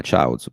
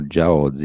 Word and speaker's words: Chaozu: l'altro lui Yaozi, o io l'ho sempre pronunciato Yaozi, Ma al che massimo, anche lì non capisco perché cioè, si chiama Chaozu, poi nel manga lo chiamano Jiaozi, che è la lettura cinese, però nessuno si chiama